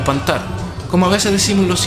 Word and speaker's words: pantar: mí para mí esto se llama panting o pan tal como ves es decir los hispanoparlantes eso es cantar es el verbo pronunciado sueco que significa yo reciclo pero pan tal con acento la segunda es una adaptación al